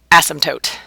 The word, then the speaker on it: asymptote: in p t te and you know how you say it asymptotes feel free say it if you want to it's just fun to say asymptotes so you don't hear the P it's not like asymptotes